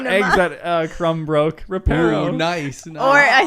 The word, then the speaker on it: Reparo: Repario. Yeah. One So that the came to eggs mind. that Crumb broke. Reparo.